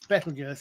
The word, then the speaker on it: Betelgeuse: It's Betelgeuse, as in the same as we said, as the red giant star in Orion.